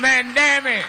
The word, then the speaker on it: Mondaire: It's not exactly complicated. I'm pretty sure it's phonetic. Mondaire Like you look at the name, that's how you Mondaire.